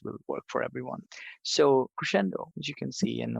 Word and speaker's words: Crescendo: guys sent me Crescendo Crescendo how do you pronounce that? Crescendo.